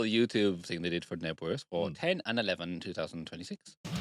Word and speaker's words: Knebworth: The silent K on that one, is it? It is. Not Knebworth. It's not Knebworth.